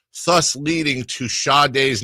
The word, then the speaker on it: Sade: the A and the D, thus leading to Sade's name being popularly mispronounced as Shardae, and it's almost its own little.